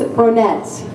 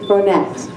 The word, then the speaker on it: Bronette: Her name is Bronette. Many of you might think that, oh, you're pronouncing that wrong, as I often do many words, but it's not Bronet, it's Bronette.